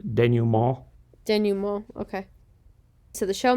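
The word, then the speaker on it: dénouement: You can pronounce it denouement. I believe the French is denouement.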